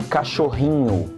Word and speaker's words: cachorrinho: As for instance, cachorro, which means dog, will become cachorrinho, cachorrinho. So pay attention to the nasal sound at the end of the word, cachorrinho, inho.